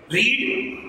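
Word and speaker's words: read: शी री रेड, रीड देखें spelling क्या होते हैं, रीड पढ़ना, स्पेलिंग यही होंगे. पास्ट टेंस में इस्तेमाल होगा तो उसको पढ़ेंगे रेड, फर्स्ट सेकंड फॉर्म भी रेड पढ़ी जाएगी, थर्ड फॉर्म भी रेड पढ़ी जाएगी.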